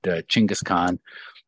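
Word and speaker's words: Chinggis Khan: that one comes from genghis khan might be a little bit more of a closer to the original pronunciation but chingas khan is how he's usually said in mongolian so chingas khan in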